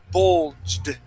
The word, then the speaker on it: bulged: Okay, we're going to say bulged. Bulged. Okay, give me a D sound. Instead of a T saying bulged, we're going to say bulged.